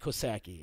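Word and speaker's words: Coxsackie: ] I mean kind of kosaki it's it's pronounced kosaki and that's by Albany Co sake is that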